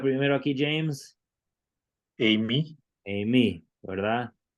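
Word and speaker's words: εἰμί: A ver cómo se pronuncia primero aquí, James. Amy, Amy, ¿verdad?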